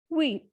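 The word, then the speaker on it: huit: Next is wheat. Because as I told you in my previous videos that H is considered as vowel in French, so it is not pronounced.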